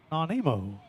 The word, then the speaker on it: Nanaimo: Nanaimo.